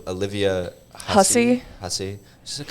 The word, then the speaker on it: Hussey: How do you pronounce her name? Olivia Hussey.